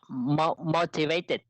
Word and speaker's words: motivated: Và từ này thì mình sẽ phát âm, mình sẽ nhấn trọng âm vào cái âm đầu tiên, cái âm tiết đầu tiên. Okay, we will pronounce motivated, motivated, motivated, motivated.